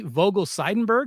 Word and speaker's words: Vogel-Seidenberg: I want to make sure I pronounce this correctly. Dr. Sammy Vogel Seidenberg.